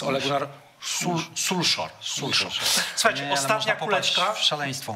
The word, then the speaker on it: Ole Gunnar Solskjær: powinno poprawnie wymawiać nazwiska, więc już u mnie nie ma Ole Gunnara Solskiera, to jest Ole Gunnar Solskjær.